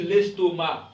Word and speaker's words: estomac: On dit l'estomac. Ok, C ne se prononce pas.